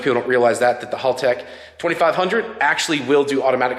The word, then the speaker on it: Haltech: So you're supposed to say it like, hey, Hale, over there, like my buddy Hale. Say Haltech.